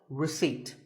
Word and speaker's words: receipt: this word is sour many words in the English language have silent letters that is letters that we don't pronounce as in word number 24 receipt the P is silent when you purchase something